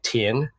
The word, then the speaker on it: Thien: So I'm Vietnamese, and the name is obviously pronounced differently in Vietnamese. It's actually Thien with a really weird accent behind it.